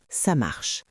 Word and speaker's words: ça marche: peux répondre simplement « ça marche ». Exactement. Et écoute bien la prononciation. Ça marche. Pas besoin d'appuyer sur chaque mot. Les Français le disent vite, naturellement.